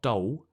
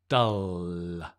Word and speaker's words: dull: nice dull it's dull can you see the tongue right it's not dole it's dull it's dull i almost bite my tongue at the end but i'm not hungry so i don't eat it it's dull good the tongue just rests relaxed on the teeth so you get that dark l right it's dull today it's